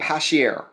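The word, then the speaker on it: Passchier: They're a startup called Pashier. Okay. So Pashier, it's spelled P-A-S-S-C-H-I-E-R.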